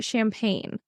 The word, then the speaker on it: champagne: how about uh champagne so interestingly enough this is pronounced similar to ban because there is the similar letter combination at the end so the G NE e at the end of champagne in French would be champag so they don't say